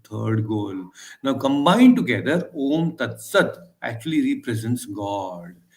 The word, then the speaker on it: Om: Now, before also we had discussed that Om has three syllables. A, U, Ma. That's how Om. It's an Om. So, A, U, Ma.